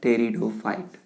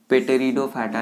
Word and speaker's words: Pteridophyte: ये क्या है टेरिडोफाइट, कोई भी इसको पेटेरिडोफाइटा नहीं पढ़ेंगे, ठीक है। नॉर्मली बच्चे जो आते हैं वो क्या बोल देते हैं? पेटेरिडोफाइट। तो भाई पी यहाँ पे क्या है? साइलेंट है, तो हम क्या पढ़ेंगे इसे? टेरिडोफाइट।